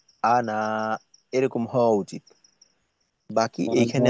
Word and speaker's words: أَنَا: আসলে এখানে কায়দাটা কি কায়দাটা হলো আলিফ দিয়ে যদি এভাবে আনা লেখা থাকে তো এই আনা টানা যাবে না আলিফ আনা টানা যাবে